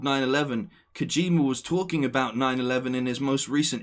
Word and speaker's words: 911: that it's weird that instead of saying 9-1-1 which is pretty much how most people pronounce oh call 9-1-1 the guy in the game has said 9-11 um and then kojima